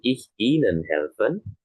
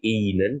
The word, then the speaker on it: ihnen: Jadi Y karena seperti ihnen di sini tidak menjadi inan ya tapi dibacanya inen saja. Jadi, H-nya silent. Heeh. Jadi, H-nya tidak dibaca.